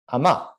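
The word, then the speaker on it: אמה: Amah.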